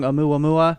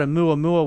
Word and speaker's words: Oumuamua: He's a professor from Harvard, and he basically stuck his neck out and said that I'm going to pronounce this wrong. Oumuamua.